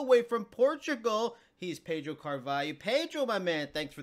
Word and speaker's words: Carvalho: and they announced it Carvalho. Is Carvalho the right way to say it? No. Damn. It's Carvalho. We in Portuguese, we the L and H have the sound yeah.